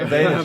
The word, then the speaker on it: Vaynerchuk: Can't pronounce his surname, sorry. Oh, there you go. Vaynerchuk.